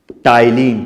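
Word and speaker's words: ptyalin: टाइलिन। P silent है।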